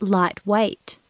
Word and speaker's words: lightweight: the spelling it's pronounced lightweight it has lots of silent letters listen for some important